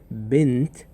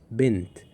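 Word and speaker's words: بنت: Ben there is no v literally there is no vowel for noon. Ben okay and then we have t. So this word which is bent kasra below sukun above noon. So it's pronounced like bent.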